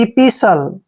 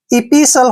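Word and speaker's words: epistle: एस टी एल ई जब भी टी से पहले एस आता है तो वहां पर टी साइलेंट होता है यानी हमने टी को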